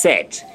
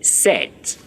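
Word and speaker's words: sept: 7 and it's pronounced set. It's spelled S-E-P-T. But the pronunciation, the P there is silence. The P there is silence. When you're writing it is there, but in pronunciation, you say set.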